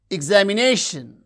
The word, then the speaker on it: examination: Examination, examination, examination. You can see the stress syllable is nei, that receives primary stress.